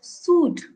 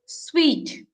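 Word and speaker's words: suite: This one people call as suit. This is not suit, this is sweet, sweet.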